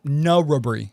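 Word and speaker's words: Narrabri: No. Rubbery is what my pronunciation. Yes. Yeah. My pronunciation is uh n uh h r u h b r y. So okay. No rubbery.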